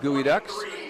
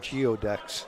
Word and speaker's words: geoducks: Looks like Garrett Long back in for the Evergreen Gooey Ducks. I'm sure glad you told me about that. I would have called them Geoducks.